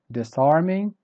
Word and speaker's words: disarming: liar word number eight disarming so the first syllable is weak and the last level is also weak and the stressed syllable is the one in the middle so this are meaning